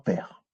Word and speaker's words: pr: Donc, on va le lire père, en mettant un E muet entre deux.